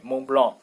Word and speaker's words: Mont Blanc: So the pronunciation, well, German people learn everything, so they would pronounce it in a French way, Mont Blanc, like in French.